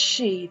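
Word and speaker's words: 四: The number 4 is pronounced shi, the same as the word for death, and is considered very unlucky.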